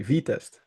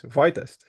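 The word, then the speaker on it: Vitest: It's written I and it's pronounced E.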